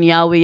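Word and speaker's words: Yahweh: kanila yang ano Bibliya while inclining to view the pronunciation yahwe as the more correct way you have retained the form Jehovah because of people's familiarity with it since the 14th century 14th century lang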